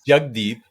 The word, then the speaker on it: Jagdeep: Well, yeah, it's Jagdeep, but when you pronounce or you spell it out, it's Jagdeep.